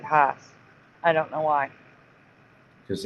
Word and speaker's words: Hass: about an ad for Haas avocados. They say it that way every time. Mm-hmm. Well, even though it's spelled Hass, I still hear people pronounce it Haas.